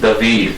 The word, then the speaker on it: David: Pronounced David, by the way.